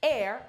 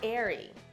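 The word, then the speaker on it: Aire: In the comments, Kylie also clarified how to properly pronounce the new name, Air, not Airy.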